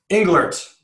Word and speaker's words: Englert: Is your last name pronounced Englert? Or Englert. Englert. Got it.